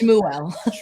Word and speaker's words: Shmuel: say my name right people must know it's shmuel well I think we